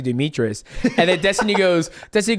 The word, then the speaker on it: Demetrious: I I I I she said demetrian I was like it's actually Demetrius and then Destiny goes